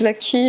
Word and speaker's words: Waki: Enfin, de toute façon, on tape Vaquie, et donc W-A-K-I, un W qui se prononce V.